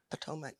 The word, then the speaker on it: Potomac: Potomac, right.